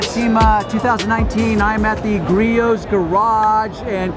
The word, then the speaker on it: Griot's: I'm at the Griot's garage, and correct me, but is the correct way to say it?